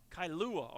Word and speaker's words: Kailua: Kailua, Hawaii. I don't know if I said that right, but he steps in, takes ball 1. How do you say that? Kailua.